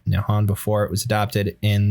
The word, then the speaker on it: Nihon: The Japanese, the name for Japan in Japanese is written using kanji pronounced Nihon before it was adopted in the early 8th century.